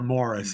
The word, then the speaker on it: Maurice: Uh, you know, it, while Forster's mother was alive, he would never have published Maurice or Morris Mm. as it's pronounced in England.